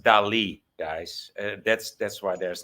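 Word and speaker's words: Dalí: Dolly I think yeah my dad has a dolly which I'm super jealous of but it was killing me because I couldn't think of the name by the way it's it's pronounced Del guys that's that's why there's an accent on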